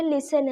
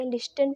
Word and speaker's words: listen: तो देखिए गाइज यहाँ पर LISTEN लिखा है, ये लिसन होता है। लिसन मीन्स क्या होता है गाइज, सुनना होता है। तो टी के बाद EN आया है तो यहाँ पर जो टी है साइलेंट है।